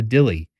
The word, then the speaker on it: Dilli: triveny this is the Dilly and based on their website I believe that is a uh a different pronunciation of the word Deli as in New Deli but um little little